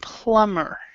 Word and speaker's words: plumber: silent so we would say plumber plumber plumber yeah so the B is not trounce okay in Andre number